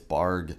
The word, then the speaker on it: Bargue: started on these charles borg barg borg bark i keep keep mispronouncing his name it's barg charles bark bark bargabard